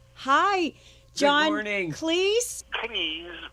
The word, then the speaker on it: Cleese: Cleese, bit to rhyme with cheese, but otherwise it was pretty close.